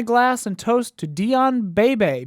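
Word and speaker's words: Beebe: When it comes to cinematography, I must raise my glass and toast to Dion Bebe. B-E-E-B-E.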